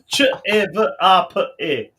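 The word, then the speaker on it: ćevapi: Chavape. Yeah. Phonetically, the way you say it is the way you write it.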